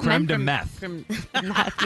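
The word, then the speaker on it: crème de menthe: Creme de menthe.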